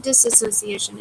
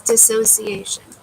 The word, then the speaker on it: dissociation: keep saying it wrong it's not disassociation it's dissociation dissociation um so all right